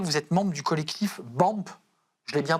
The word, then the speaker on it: BAMP: Vous êtes membre du collectif BAMP. Je l'ai bien prononcé?